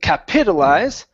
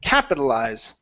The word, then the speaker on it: capitalize: have the word capitalize instead of capitalize stresses at the very beginning capitalize capitalize there you go